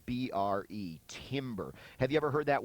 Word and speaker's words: timbre: It's the whole concept of timbre, spelled B-R-E, timbre. Have you ever heard that word before? You might have, and just didn't know what it was. Oftentimes you'll hear it pronounced also timbre, T-A-M-B-R-E.